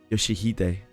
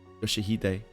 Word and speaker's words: Yoshihide: No, that's not how you read those letters. Yoshihide. That's how you say it. Rio Shu. It's prettier and easier, so that's maybe her original name. Yoshihide.